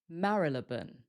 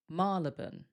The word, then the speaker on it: Marylebone: They're quite similar, but a little different. The first way is Marylebone, Marylebone, or Marylebone, Marylebone. But some people say Marylebone, Marylebone, or Marylebone, Marylebone.